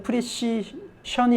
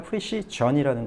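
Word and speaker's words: precision: 프리 사이라는 거 명심하시고요 또 명사일 때 프리시 션이 아니라 프리시전이라는 거 명심하시고 시전 정확 정밀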